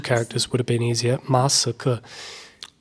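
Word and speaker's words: 马斯克: Masike. Okay, that's quite easy. Masike. 2 characters would have been easier. Masike.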